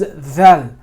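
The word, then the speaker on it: ذ: This is dal, this is dhal. Where they come out in the tongue is two different regions. They come from different areas.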